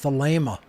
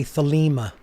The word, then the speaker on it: Thelema: people out there say thalima i hear this all the time because they're pronouncing the second e the leima is spelled t-h-e-l-e-m-a and in greek the second e is a long a sound uh if you write